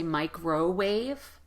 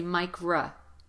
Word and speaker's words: microwave: containers in the microwave there's a good um practice for the unstressed vowel in microwave as well even though the the O that's right in the middle is the letter O again it's going to be replaced with the unstressed vowel so don't say microwave say Micra micro wave microwave microwave microwave good